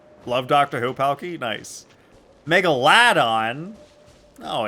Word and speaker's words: Megalodon: That's how you pronounce it. Megalodon.